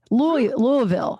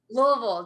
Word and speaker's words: Louisville: do you say it louisville louisville just like you've had like just a little bit of bourbon and you're starting because people say louisville right yeah that's not right that's not correct well